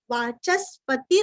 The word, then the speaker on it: वाचस्पति: वाचस्पति च के ऊपर आघात वाचस्पति रयो निजहा यो निजहा नीरस्व।